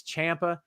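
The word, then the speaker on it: Ciampa: tv and on podcasts i don't know how to pronounce it it's champa it's fine call him whatever you want but out straight out of the guy's mouth himself is tommaso champa who's calling it something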